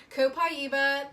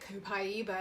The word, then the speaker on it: Copaiba: Copaiba, that's how you say it, Copaiba.